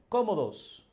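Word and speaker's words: cómodos: are very comfortable here nosotros estamos muy comodos comodos you see the the marked accent here comodos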